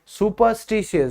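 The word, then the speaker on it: superstitious: सुपरस्टिशियस, और उसकी pronunciation होती है सुपरस्टिशियस, जो कि यहां पे लिखी हुई है।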